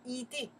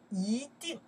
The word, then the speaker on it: 一定: In that case, we don't say 一定. We say, 一定, second tone.